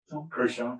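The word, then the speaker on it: Crouchen: B, I don't even know how to pronounce it, Crochon. Is that correct? Crochon.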